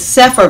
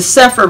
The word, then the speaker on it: Cepher: there now i will be reading from this sephir version those of you who are familiar with that and those who are not um the sephir bible translation is uh the restored names of